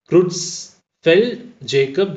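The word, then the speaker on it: Creutzfeldt-Jakob: disease that is cjd it is pronounced as Cruz fell Jacob disease is a fatal disease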